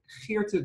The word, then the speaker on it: Geerte: am sitting here with Geerte, which is Dutch, which is really nice because now I can say the G just as it's supposed to be instead of saying my name